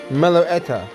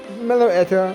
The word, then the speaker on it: Meloetta: meloretta miller how do you say his name meloetta yeah mello etta um probably mega ortalia umbreon shaman volcanion and